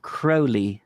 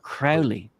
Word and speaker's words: Crowley: follower of his and it is pronounced Crowley as in the dark Crow not Crowley and I look and